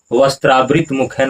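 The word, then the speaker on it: वस्त्रावृतमुखेन: वस्त्रावृत मुखेन उक्तम, यहाँ उच्चारण क्या होगा, वस्त्रावृत मुखेन उक्तम मतलब होता है वस्त्र से मुंह को ढक कर।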